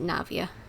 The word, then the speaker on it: Navia: Now I know how to pronounce it, Navia.